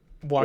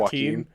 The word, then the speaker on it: Joaquin: Joaquin? Joaquin. And mine's Jorge. It's not. I like how we both went with a J name that doesn't start with the J sound.